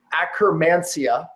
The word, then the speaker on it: Akkermansia: Notably, a microbiome called, and I won't even butcher it with dyslexia, but it's Akkermansia, I think that's the pronunciation, which is associated with obesity and diabetes, virtually disappeared.